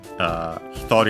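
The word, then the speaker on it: 一人: And so it becomes hitori, futari, hitori accent on the to, futari accent on the ri itself.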